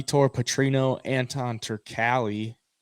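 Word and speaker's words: Turkalj: V tour Petrino Anton turkali I think that's how you say it actually I've been saying Turk house all week but it's turkey uh I took Petrino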